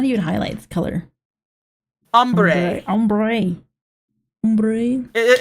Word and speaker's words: ombre: Ombre. Ombre. Umbre. It It is pronounced umber, but like it's spelled ombre.